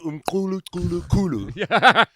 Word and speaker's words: Umculo: that I've got with me here, insert pronunciation here, I'm going to figure that out. You got it. Umculo.